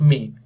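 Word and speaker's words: mk: this expression is itself a function it is known as अ मेक function the एमk is pronounced मेक तो यहां पे जो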